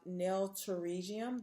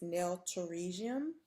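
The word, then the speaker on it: pterygium: And then lastly on this slide we have nailium. The P is silent. So that is nailium and that is characterized by the abnormal stretching of the eponychium or the hyponychium surrounding the nail plate.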